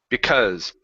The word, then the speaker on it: because: word because so here instead of because and in closing the mouth open it up just a little bit because because okay now you don't need to pronounce an O Okay so instead of be it's only uh because because because there you go good